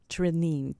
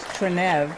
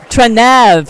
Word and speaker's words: Trenev: it will you please welcome my guest Natasha Trine to my show hi Natasha hello thank you just wanted to say the last name is trenev trenev all right I pronounced it wrong I should